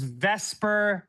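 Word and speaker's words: VSEPR: Upon drawing a Lewis structure, we can then determine the compound's vesper geometry.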